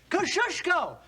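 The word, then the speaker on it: Kosciuszko: of General Gates chief engineer say it and spell it kushko k o s c i u s z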